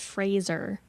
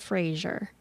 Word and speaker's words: Fraser: It's pronounced Fraser, not Fraser.